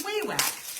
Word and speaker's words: Wawak: So, Amy, you've been saying it wrong. We all have, because I was like, could it be Wawak? No, it's Wawak. It's Wawak.